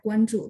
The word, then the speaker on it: 关注: mengikuti, itu namanya ya, 关注, tapi tulisannya GUANZHU. Kalau yang Bapak ketik JU ya, JU itu bacanya Ju. Ini Ju, ZHU, 关注. Sebentar, saya coba cek ya.